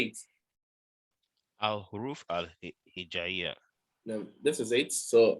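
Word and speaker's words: الحروف الهجائية: So Arabic alphabet, they are called al-huruf al-hijaiyya. Say it. Al-Huruf al-Hijaiya. Now, this is it. So I've transliterated it. Al-huruf al-hijaiyya. But I want you to pronounce it perfectly. Al-Huruf al-Hijaiya.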